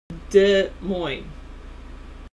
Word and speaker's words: Des Moines: Des Moines? Am I pronouncing it correctly? Des Moines. That's how it was. That's how I've always pronounced it.